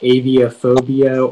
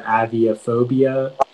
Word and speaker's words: aviophobia: the information yeah so it can be pronounced aviophobia or aviophobia it's a noun and